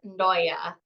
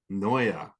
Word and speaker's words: Ndoja: always gets it wrong but it is Noya Noya no yeah you kind of like slur that in and D